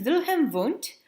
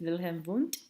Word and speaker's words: Wilhelm Wundt: The first true psychologist, known as the father of psychology, his name is Wilhelm Wundt. He was German, and W's are pronounced kind of like as V's.